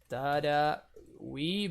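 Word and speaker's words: Taragüi: It's Tarawi, but we like the two dots over the U, which I don't know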